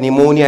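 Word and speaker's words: pneumonia: आप स्पेलिंग याद करो पहला वर्ड निमोनिया इसको बोलते हैं लेकिन जैसी स्पेलिंग है बच्चों ऐसा ही इसका प्रोनंसिएशन रटना है आपको याद करना है अपने दिमाग में रखना है यकीन रहे याद रहे कि आपको दिमाग में रखना है बोलना नहीं किसी के सामने यह क्या है दुनिया के लिए है निमोनिया लेकिन मेरे लिए क्या है ये पन मोनिया क्या है पनू मोनिया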